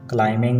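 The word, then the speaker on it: climbing: इस सेंटेंस में word क्लाइंबिंग में बी साइलेंट है।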